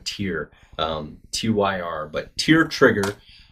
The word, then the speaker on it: Tyr: that tyr tyr trigger I'm not Nordic so forgive me if my Nordic god pronunciation is inaccurate but I'm going to go with tear qyr but to your